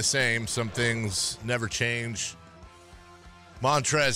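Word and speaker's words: Montrezl: some things never change montre Harold done with him and his silent l in his first name just get out of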